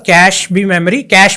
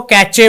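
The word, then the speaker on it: cache: Registers है, ये भी सीपीयू के काफ़ी पास होते हैं, और कैश मेमोरी भी यहाँ पे काफ़ी पास होती है। कुछ लोग इसको कैचे बोलते हैं, वो गलत प्रोनाउंसिएशन है, आपको प्रोनाउंसिएशन सही करनी चाहिए।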